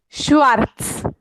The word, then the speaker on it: Schwarz: सही पढ़ा आपने, सिर्फ जो थोड़ा सा स्पेलिंग वाला, प्रोनाउंसिएशन वाला था ना, माइन आपने करेक्ट पढ़ा था. फैमिलियन नाम इस्ट श्वार्ट्ज.